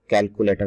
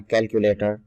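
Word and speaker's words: calculator: लोग इसको कैलकुलेटर पढ़ते हैं, इसको कैलकुलेटर नहीं, इसको पढ़ना कैलकुलेटर, कैलकुलेटर, कैलकुलेटर, कैलकुलेटर, कैलकुलेटर।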